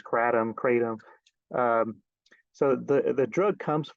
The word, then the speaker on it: kratom: I think just because we're Americans and we say we'll have things however we want, but the actual pronunciation is more like Kratom.